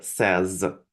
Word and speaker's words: says: Да, вот только пишется says, да, а произносится says.